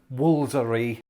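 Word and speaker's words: Woolfardisworthy: to remind everybody that this english village is pronounced woolsery basically when it comes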